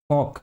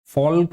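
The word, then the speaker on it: folk: एफ ओ एल के फोक इसमें फोल्क नहीं बोलेंगे right this is फोक एफ ओ एल के एल इज़ साइलेंट हियर फोक मतलब सामान्य जनता सामान्य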